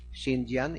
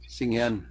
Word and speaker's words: Singyan: Salazar owns 10, and Mr. Sindian, is that the way you pronounce it? Singyan. Singyan.